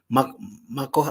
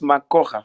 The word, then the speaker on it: Makoha: Mako, is it Mako? Help me pronounce your name, sir. That is Makoha from Western. Oh, Makoha from Western. Oh, yes. The K is silent.